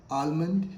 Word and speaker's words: almond: A-L-M-O-N-D. How do you pronounce this word? Almond? No. L is silent here.